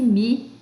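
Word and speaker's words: μ: Pronuncia-se mi, né?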